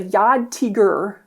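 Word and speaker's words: Jagdtiger: It's pronounced a Yad Tigur.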